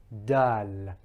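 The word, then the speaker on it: دال: Now dal, as we said, the tongue is rising up, it's sharply pointed, but when it's making impact with the gums, the upper gums of the incisors on the inside, it is sort of slightly flattening out. Dal, dal.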